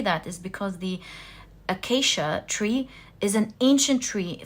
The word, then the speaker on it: acacia: the ancient tree the I think it's pronounced the akasia one of you corrected my pronunciation to it in the comments section and I think it was the accuracy let me check no it's the acacia thank you guys so